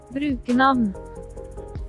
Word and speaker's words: Brukernavn: Brukernavn. Brukernavn. Brukernavn. Does that sound about right? Brukernavn. Brukernavn. Brukernavn. Nice. Yeah, it kind of swallows the V in the pronunciation.